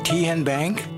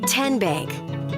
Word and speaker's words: Tenbank: How do you say the name? Ken Bank. Nope. Kin Bank. Uh-uh. So, what is it? Tenbank. 10 as in Tennessee.